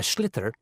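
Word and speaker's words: sliotar: this ball called a schlitter that's s l IO t a r so it's not spelled the way it's pronounced you hit it into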